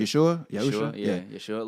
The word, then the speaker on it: Yeshua: Yeah, Yeshua. Like, I feel like people would say like, oh, but he doesn't talk about like Yeshua like in his music.